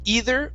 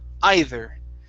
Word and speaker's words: either: and this word here there's two ways to pronounce it you can say either or either okay try that either good